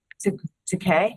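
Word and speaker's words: Taquia: I wrote down to Kai, right? To Kai. I think. To Kai. To Kai. To Kai. I'm just gonna Is that how write you pronounce that person's name? Yes, to Kai.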